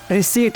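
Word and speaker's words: receipt: जैसे देखने में ये वर्ड रिसिप्ट लगता है पर इसकी प्रोनाउंसिएशन रिसीट है, यानी कि इसको रिसिप्ट नहीं रिसीट बोला जाता है।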